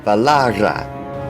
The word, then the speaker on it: Valara: And this isn't always easy to see, as is the case with Valara, where one R counts as part of the second to last syllable and the other R counts in the last syllable.